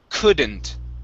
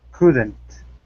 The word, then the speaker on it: couldn't: word here is couldn't in this word the l is silent we do not pronounce the l it's couldn't couldn't couldn't okay there you